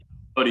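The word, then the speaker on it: Boddy: Is it Bodie? Am I saying it right? Yep. Bodie, Kyle yep.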